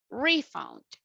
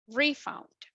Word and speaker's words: refund: If you want to use it as a noun, the stress is in the first syllable. So you will say refund, refund.